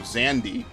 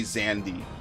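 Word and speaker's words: Xande: we'll destroy this town in the name of Zandy it's yes it is pronounced Zandy as we know from 14. it's crazy I know I always said zand they say zandi the continent will plummet from its place in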